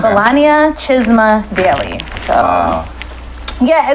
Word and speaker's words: Belania: They'd say bologna and cheese daily. Wow. Daily news, bologna and cheese sandwich. And I was like, dang. Wow. It's Belania.